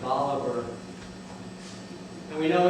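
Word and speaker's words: Bolivar: they pronounce it cast we all know of Simone bouar the Great South American hero uh and general but here in mson county and County they pronounce it biver and we know it's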